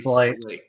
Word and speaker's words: Slate: It's Slate. Yep, Like the Flintstones.